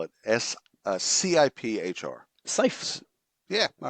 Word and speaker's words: CIPHR: I'll spell it CIPHR. Cipher.